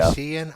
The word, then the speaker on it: Hashian: Hashian, I believe is how it's pronounced.